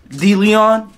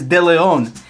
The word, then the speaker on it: De Leon: So my last name, see, in English, it's pronounced De Leon, Kevin De Leon. But in Spanish, it's De Leon.